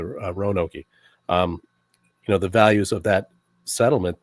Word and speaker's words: Roanoke: Along with, a lot of the, and Bill, you mentioned Roanoke, or as you pronounce it, Roanoke, the values of that settlement that was founded by Sir Walter Raleigh all total his name.